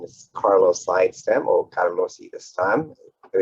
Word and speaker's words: Sidestam: morning good afternoon everybody my name is carlos sidestem or carlos this time it is my pronunciation of it uh so work with healing